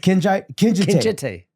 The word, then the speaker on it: Kinjite: Kinjite. Kinjite. That's how they pronounce it. Kinjite.